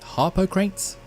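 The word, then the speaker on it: Harpocrates: of the game to visit a character named Harper crates that's how you pronounce it that's how you spell it anyway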